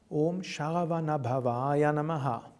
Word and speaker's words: Om Sharavanabhavaya Namaha: There are only two long syllables, Om and Va. So it's Om Sharavanabhavaya Namaha.